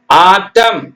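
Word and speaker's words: autumn: படிக்கிறதுக்கு வந்துரும் ஆனா அந்த எண் என்ன அவசியம் போடணும் ஆட்டம் ஆட்டம் பருவநிலை அதாங்க இந்த குளிர்காலம் மழைக்காலம் அந்த மாதிரி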